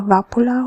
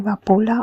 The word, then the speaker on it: Vapula: six letters or so there is even a different pronunciation of his name. You know, one can say uh vapula or can say vapula or one can say